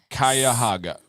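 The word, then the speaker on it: Cuyahoga: Kaya Haga. Thank you. I feel like I was kind of close though. Yeah, it's kind of how it's written, but you would assume it's not.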